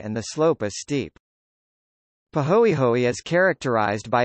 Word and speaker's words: pāhoehoe: to the surface texture ah pronounced ah and pahoehoe pahoehoe both Hawaiian words ah is characterized by